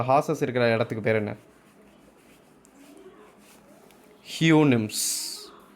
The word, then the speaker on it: Houyhnhnms: ஹியூனிம்ஸ். HOUYHNHNMS. அது ஹியூனிம்ஸ்ன்னு தான் pronounce பண்ணணும்.